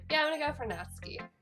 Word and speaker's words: Natsuki: Yeah, I'm gonna go for Natsuki. Natsuki. That's really not how you say it. I'm so sorry. I'm such a... I can actually speak, JP. It's Natsuki.